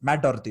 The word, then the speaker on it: Matt Doherty: How do you pronounce his name? Matthew Doherty or something. His name is Matt Doherty.